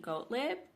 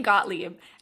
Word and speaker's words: Gottlieb: we have here is Stephanie goatlip Gottlieb I think I pronounced her name wrong Stephanie Gottlieb and I I wanted